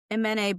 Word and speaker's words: Imene: Imene, by the way, is how to pronounce it, and she's our legal counsel at Wayfair.